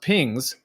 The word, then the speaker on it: PGNCS: navigation and control systems pgncs pronounced pings was initialized with data